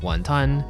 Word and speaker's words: 雲吞: In Cantonese, wontons are pronounced wàhn tān Which roughly translates to "swallowing a cloud".